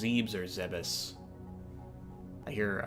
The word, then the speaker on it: Zebes: don't know if it's zebs or if it's pronounced zebs or zebus I hear I hear a lot of people pronounce it zevis but I always I always pronounced it as a zebs okay uh let's go